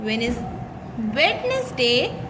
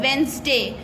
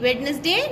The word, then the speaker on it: Wednesday: Do you know that Wednesday is pronounced Wednesday? The first D is silent.